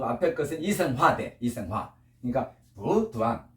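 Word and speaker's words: 补: 보자는 부로 납니다. 해봐. 부. 단자는 해봐. 짧을 단자 두안. 자, 그런데 이 도자도 삼성이고 단자도 삼성이에요. 삼성이 연속될 때는 뒤에 것만 삼성을 놔두고 앞에 것은 이성화돼. 이성화. 그러니까 부두안.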